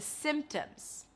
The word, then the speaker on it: symptoms: And those are the symptoms. Symptoms. Well, there is a P there, but you don't have to pronounce it.